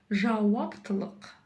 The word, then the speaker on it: жауаптылық: Помним, что буква в казахском языке, в отличие от русской версии, читается очень коротко. А как же прочитать букву К или букву К с хвостиком? Нужно просто откашляться через букву К обыкновенную.